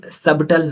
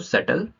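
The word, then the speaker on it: subtle: अब यहाँ पे सबटल ना पढ़ के हम क्या पढ़ेंगे, इसको सटल, राइट।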